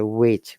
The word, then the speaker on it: which: what remember that though there is a h in ws question h is silent we don't say which we say which we didn't say hawaiian